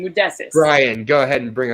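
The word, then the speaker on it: Modestas: Modestus.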